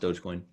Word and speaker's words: Dogecoin: Yeah, no, it's pronounced Dogecoin.